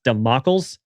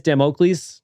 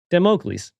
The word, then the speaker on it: Damocles: So it's like, damn, Oakleys? Damocles.